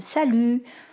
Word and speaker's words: salut: syllabes accentué donc contre je dis salut donc j'ai tendance à accentuer la deuxième syllabe ou la prononcer avec une plus grande force articulatoires pour lui donner en fait du relief pareil pour bonjour donc